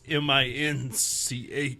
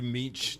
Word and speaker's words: Muench: So as you pronounce it like it's Minch. Just like the Grinch. Muench. You've let me call you Meech this whole time.